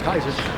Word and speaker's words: Caesar: there they told Julius Caesar to uh or Julius Kaiser pronounce it correctly Julius Kaiser to uh take to